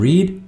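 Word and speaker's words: read: Haven't रेड that book पहली form रीड second रेड और third B रेड लेकिन spelling same रहेंगे। बोलने में आप डिफरेंट तरह से बोलेंगे। रीड रेड रेड तुमने मीठा नहीं चखा है।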